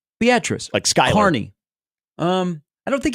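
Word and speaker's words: Beatrice: so they went through how to pronounce beatric it's not beus yeah beatric so I'm okay with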